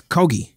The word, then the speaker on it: Kogi: It's Kogi. Oh, Kogi with a hard G.